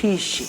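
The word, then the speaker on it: phisi: Pero el gato es pishi. Pisi. Pi. Pi. Pi. Pi. Pi. Pi. Pi. Así como que botando aire. Pishi. ¿Ya? Pi. Pishi.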